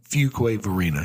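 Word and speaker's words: Fuquay-Varina: called uh for choir or Fuquay okay Verena Fuquay Varina yeah a few place Sammy that's the thing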